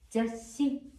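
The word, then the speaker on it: ざっし: 자, 이 시옷은 앞글자의 받침으로 가니까 자, 적자면 이 정도 액센트 주면서 어떻게 발음합니까? 자시. 자, 초금은 받침으로 가지만 한번 액센트가 가고 또 숨이 약간 살짝 멈추다가 다시 시작돼요. 자시. 그냥 시옷 받침 없이 자시 아닙니다. 자시. 잡지란 뜻이죠.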